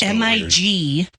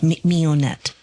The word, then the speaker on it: Mignonette: It's like French. Oh, so it's Mignonette. Oh, yeah. Nonette. Mignonette.